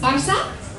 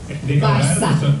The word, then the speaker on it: Barça: And you'll see the C truncada, which is the C with the little tail, and that's pronounced as an S. Barça.